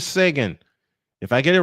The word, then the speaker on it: Seguin: I believe the way you pronounce it is Sagan.